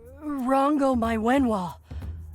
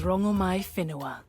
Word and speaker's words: Rangomai Finoa: Goddess Rango Mywen, what do I call you? My name alone will suffice. My name is Rangomai Finoa. What? Oh, we've been mispronouncing you the whole time.